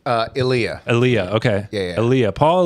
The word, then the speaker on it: Elia: I've heard it pronounced different ways. Elia. What do you prefer? Elia.